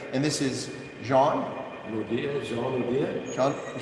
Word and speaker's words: Jean Naude: But this is the Chief Executive Officer of Groot Constantia, and this is Jean Naude, Jean Naude. Jean Naude.